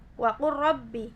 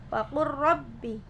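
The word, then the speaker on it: وقل رب: Jadi bacanya itu dimasukkan waqur rabbi, jadi nggak perlu dinampakkan lamnya, langsung masuk ke ra, waqur rabbi, seperti itu.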